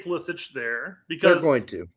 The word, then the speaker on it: Pulisic: reporters in Italy that his last name is pronounced I.E politic we're close to Croatia so I guess it's pulisic yeah it's pulisic in his home country so I guess he can he's been saying for years ballistic ballistics my guess my